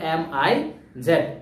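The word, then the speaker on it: Ms: এই যে মিস এর উচ্চারণটা অনেকটা এই যে দেখো MIZ, মিস মিস মিস এর মতো।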